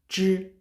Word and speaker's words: zhi: When you want to pronounce zhi sound, please roll your tongue.